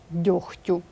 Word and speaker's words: дьохтю: слова транскрибується Таким чином лехко вохко кіхті і вимовляються так само ніхті дьохтю ці винятки треба запам'ятати наступне правило глухі приголосні